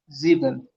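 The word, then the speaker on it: sieben: इसको कैसे प्रोनाउंस करना है? जीबन।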